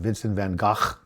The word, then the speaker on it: Vincent van Gogh: in Woody Allen's Manhattan, Vincent van Gogh? That's how you pronounce it in Dutch.